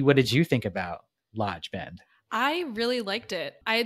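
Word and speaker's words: Loge: The next one, the Lodge Hotel, which is spelled L-O-G-E, but pronounced Lodge, just so you know.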